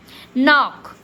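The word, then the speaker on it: knock: नॉक। इसको हम के साइलेंट करके ही बोलेंगे। के को छोड़ दो। न का उच्चारण कर लो।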